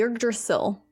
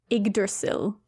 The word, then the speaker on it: Yggdrasil: And then the creation of the first man, woman, and the Yggdrasil.